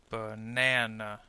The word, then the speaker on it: banana: so notice how we this word has three vowel sounds therefore we can say that it has three syllables let's group this segments into syllables now b banana remember how we called the middle vowel n the stress sound now we can call it the stressed syllable the other two are